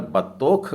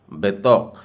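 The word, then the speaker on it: בתוך: और फिर ख, और इसका उच्चारण आप अगर बतौख कर रहे हैं तो गलत हो जाएगा। आपको कहना होगा बेतौक। फिर से कहते हैं बेतौक।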